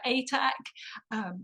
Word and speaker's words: Atack: I'll just do the pronunciation of my surname as it's um, unusual. I'm Atack.